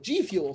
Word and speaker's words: G-Fuel: G-Fuel. Sorry, that's how it's pronounced.